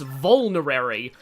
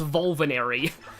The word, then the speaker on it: vulnerary: It's vulnerary, which I used to pronounce vulvinary.